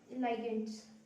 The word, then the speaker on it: ligand: Second है डाइडेंटेट और bidentate लाइगेंड्स। इसको आप लिगेंड भी प्रोनाउंस कर सकते हो, लाइगेंड भी प्रोनाउंस कर सकते हो, सबकी अपनी अपनी वोकैबुलरी है, राइट।